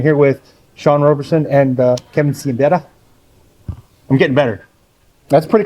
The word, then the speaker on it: Siembieda: did this once before, in Polish, my name is pronounced Kevin Siembieda, but there's no H in it, and it just confuses people. So we've gone with Siembieda for most of our life, and then this is Sean Owen-Roberson.